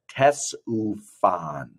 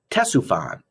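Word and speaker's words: Ctesiphon: of the route was the tess ufon that's how you say it tessufan in what is now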